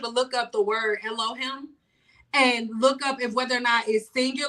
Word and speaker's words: Elohim: Yeah, I definitely E L O H I M. Yeah. Okay. Definition Okay, let's see how to pronounce it.